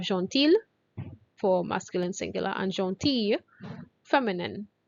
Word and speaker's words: gentil: for masculine singular and gentille feminine. Right? Gentil, we pronounce the L a bit, and gentille is like a Y, L-L-E. It's a Y sound for the feminine.